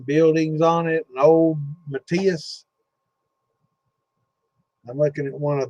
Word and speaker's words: Mateus: An old Matthias. I'm looking at one of those, and I remember that from back in the day. But I never considered that a cheap one. It's spelled Mateus, Matthias.